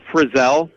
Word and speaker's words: Frizell: Yeah, it's Frizell. Not like Frizzle with the magic school bus. You know, everyone does it all the time, man. It's pretty easy to mispronounce. Not Frizzle.